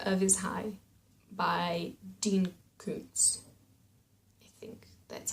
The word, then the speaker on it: Koontz: from the corner of his hi by Dean Koontz that's how you say his name good so